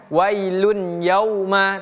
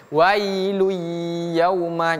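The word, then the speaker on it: وَيْلٌ يَوْمَئِذٍ: Memang tidak ada tasdid pun bacanya tetap wailuy bukan wailun yauma tapi wailuyuma. Jadi seolah-olah ada tasydid namanya idgham.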